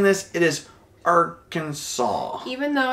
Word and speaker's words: Arkansas: just FY if you're pronouncing this it is Arkansas even though it's spelled like Arkansas yes it's weird right tricky